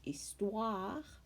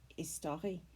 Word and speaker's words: histoire: repeated multiple times throughout we could discuss the word istoir in french and what word it reminded us of in english we might practice the sound wa so they don't confuse istua and pronounce it as an anglicize istari which is a common mistake trey is a word